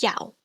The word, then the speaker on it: iao: Next we have IAO. This is pronounced yao. If I put an M before it, I get meow. So it sounds like a cat's meow, doesn't it?